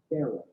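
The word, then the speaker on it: faro: four is what's called the pharaoh shot not like the egyptian it's spelled f-a-r-o it's actually named after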